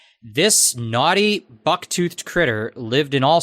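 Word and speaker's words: gnawty: Uh the word the word naughty that I just read out loud is spelled although it's lowercased. It's not it's not capitalized like a proper noun. It is spelled G N A W T Y.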